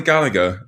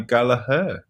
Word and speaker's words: Gallagher: be conor gallaher um no i'm just gonna go with that i mean i've never heard it pronounced any other way apart from gallagher i mean if he wants to come out and say he wants to pronounce gala then then i'm absolutely 100 behind the boy but um i i'm pretty sure that name is gallagher oh yeah a bit